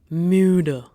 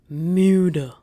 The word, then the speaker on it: müde: Now with U umlauts, let's take a word for tired. Pause this, try to pronounce it. Müde. Müde.